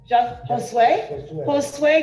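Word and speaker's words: Josué: with jose how do you say your name josue josue your request with respect to mr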